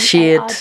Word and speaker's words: Sheard: Sheard like beard.